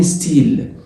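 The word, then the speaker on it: style: حرف الواي هنا اللي هو اسمه اي جريك بالفرنساوي بيساوي الاي اللي هي بالفرنساوي بتتنطق اي تبقى ستي، ستي، اي، اي تبقى ستيل ولا ستايل؟ ستيل، والحرف الاخير ما بيتنطقش.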